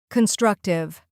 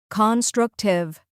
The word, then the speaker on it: constructive: Embrace, Constructive. Constructive. 3 syllables. Stress on the second part.